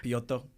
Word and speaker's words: Piotr: Piotr. You pronounced his name great.